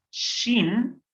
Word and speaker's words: shin: Vamos a tener ahora, entonces, la consonante shin, que se hace doble. La shin la podemos pronunciar como sh, sh, como cuando decimos que alguien se calle, que alguien guarde silencio. Y entonces decimos sh, shin, sh.